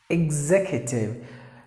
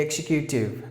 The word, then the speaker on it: executive: you excuse me then executive please don't say executing that is done by somebody else or that is done by people who speak non-standard English please don't say he execute